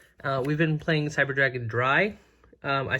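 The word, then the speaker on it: Drei: been playing cyber dragon dry I say that because I think that's German and that's how it's pronounced a German I believe I've heard people call it Dre I don't know if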